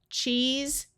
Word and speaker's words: cheese: The other sound that se can have at the end of a word is the voiced sound of z.